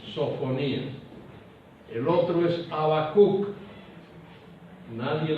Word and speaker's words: Sofonías: Sofonías, muchos no saben pronunciar sofonías y creen que es sinfonías. No, es sofonías.